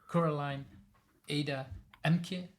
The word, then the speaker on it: Coraline Ada Ehmke: I have Coraline Ada Ehmke. Is that how I should pronounce the name?